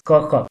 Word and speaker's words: Kirkup: This is the pronunciation of the name, James Kirkup.